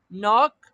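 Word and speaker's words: knock: मानी है दस्तक देना के यहां पे सा फर्स्ट के जो है वो यहां पर साइलेंट है सो नॉक दस्तक देना इंक्लूड शामिल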